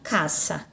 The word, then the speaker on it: casa: tenho na língua portuguesa essa palavra casa mas anime espanhola a pronúncia fica caça caça certo então é assim